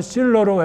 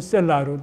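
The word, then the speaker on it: סֶלָה: 그 여기 발음은 실러로 했는데 원래는 셀라로 되고요.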